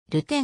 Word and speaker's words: Rutten: のポジションはディフェンダー本来の発音は即音が入らず流転が近い 13 年間に及ぶ